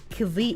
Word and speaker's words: ceviche: Ceviche? How do I pronounce that word?